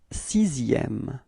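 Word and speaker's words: sixième: repeat CM so actually what's quite funny with it is that this X in the middle or maybe not in the middle but actually in the czm word is pronounced like okay so it's not X really okay so you pronounce it like s so you get this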